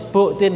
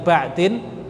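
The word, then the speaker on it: بعد: Nah, di sini ada satu kaidah, al aslu fil bai'i an bu'din, bacanya bu'din ya, bukan ba'din. Bu'din al ibahatu malam yarid dalilut tahrim.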